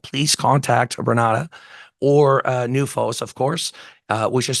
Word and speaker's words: NUFOS: to get involved please contact berata or uh newos of course uh which is spelled n UF oos uh it is important